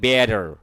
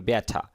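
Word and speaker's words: better: বন্ধুরা খেয়াল করুন, আমরা যখন আমেরিকান ইংলিশ বলি আমরা বলি বেটার, এখানে সফট ডা সাউন্ডটা আসবে। আর যদি এটা আমরা ব্রিটিশ বলেন, আপনি বলেন ব্যাঠা, মানে আরের উচ্চারণ এখানে করা যাবে না, এইখানে আর কি।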